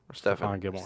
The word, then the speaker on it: Stephon: but Stephen Gilmore's tears is it Stefan or Stephen I don't want to say it wrong was it Stephon Gilmore Stefan Stefan Gilmore he he just makes